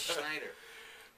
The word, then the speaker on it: Schneider: How do you say Schneider? It's like, is there an X? No, there's no X in it. You know, it's Schneider. But it was a good trip.